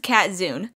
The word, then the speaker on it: Katzun: I know it's kinda hard to tell with the weird way it's spelled, but my name is pronounced Katzun.